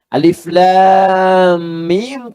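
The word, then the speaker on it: الم: pernah tertukar sampai sekarang alif lam mim Tapi yang di alam nasyrah dibacanya alam Padahal dua-duanya sama bentuk hurufnya alif lam dengan mim yang satu alif lam yang kedua alam tidak ada perubahan sama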